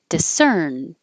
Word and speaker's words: discern: Discerned, discern. And if you just hear it by itself, discern, no D. But if there's a vowel after it, discerned a strange odor.